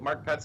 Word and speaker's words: Marc Petz: pronounce it correctly mark well good did I pronounce your name correctly mark pets yep mark pets is uh is correct okay great and Mark